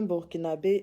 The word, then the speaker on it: burkinabè: pas je vous dis un burkinabè une burkinabè c'est comme ça qu'on prononce et pas autrement voilà nous avons reçue